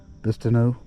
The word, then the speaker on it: Bistineau: Miller like Banu how do you say it bistu yeah like BAU okay didn't know if I